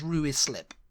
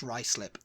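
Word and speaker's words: Ruislip: in Northwest London um I used to think it was ruis slip you know ruis slip ruis lip yeah wasn't it's rice lip rice slip yeah like you got a bit of rice on your lip you get your rice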